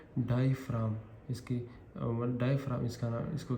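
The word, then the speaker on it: diaphragm: डायफ्राम। इसमें ये जी silent है।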